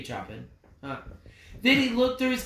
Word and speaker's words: Chopin: It's spelled Chopin, but it's Chopin. Could be Chopin.